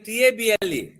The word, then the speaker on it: table: అలాగే TABLE, how do you pronounce children? ఇది noun కాబట్టి ఏం చెప్తాం? table table. Please repeat after me. Table. So stress is on the first syllable.